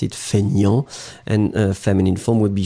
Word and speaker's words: feignant: So, fainéant, but then we pronounce it feignant. And feminine form would be feignante. Remember, so masculine you don't pronounce the T, and then feminine form you will pronounce it.